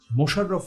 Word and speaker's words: মশাররফ: আমার স্টুডেন্টদের মধ্যে অনেক দেখে থাকি সেটা হচ্ছে মোশাররফ হোসেন মীর মোশাররফ হোসেন তো এখানে কিন্তু তিনি যেটা লিখতেন তিনি যেভাবে বানানটা সেটা কিন্তু হচ্ছে মশা মশাররফ তো মনে